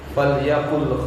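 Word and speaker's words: فَلْيَقُلْ: billahi wal yawmil akhir falyaqul khairan aw liyasmut. Perhatikan cara bacanya ya. Lamul amr itu kalau ketemu dengan huruf atof maka dia dibaca sukun. Fal yaqul, lamnya disukun.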